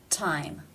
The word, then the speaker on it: time: It's at the beginning of the word, therefore it is pronounced with the real T sound, T. Time.